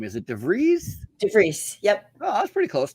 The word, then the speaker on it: DeVries: DeVries. Yep. Oh, that's pretty close. DeVries. You're close. Yeah. DeVries with Emily's Cleaning in Utica, New York.